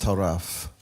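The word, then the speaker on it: טָרַף: off oh come on the root word is pronounced taraf now here's why that's interesting to me because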